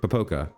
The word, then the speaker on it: pooka: pooka management pooka yeah I'm going to put the stress on the second syllable here pooka uh and then nebulous